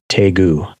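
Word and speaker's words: Daegu: of the airport is teu oh it's the D is pronounced like a t it it's yeah deu it's a soft te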